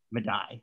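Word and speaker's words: Medaille: tutor having graduated from medi-e college is that how you pronounce it or do how do americans pronounce it madai okay all right madai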